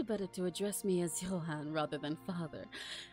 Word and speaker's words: Johan: me as oh is is that pronounced Johan I'm assuming it's not Johan let me double check Johan pronunciation okay it is for the it is the Yan but before that she